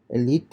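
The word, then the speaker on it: Élite: And apart from that, we have this Netflix show called Elite. That's how it's pronounced in Spanish.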